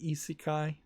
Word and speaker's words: isekai: called american isekai prologue that's how you pronounce it isikai e-ci kai which isakai means another